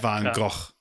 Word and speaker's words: van Gogh: this is a minute 20 video go Vincent van Gogh I'm cutting that's how you pronounce it I just cut so you just